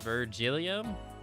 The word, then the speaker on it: Virgilio: bill Miguel I do how do you say his name virgin it-it-it Virgil urgent I'm just gonna call him virgin Virgilio Virgilio okay it is Virgilio akka confirmed furry weed